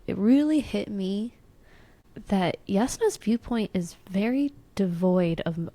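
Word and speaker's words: Jasnah: I want to start with Yasna. So, Yasna was or Yasna or whatever Yasna, whatever you want to say. Um, spelled with a J, not a Y.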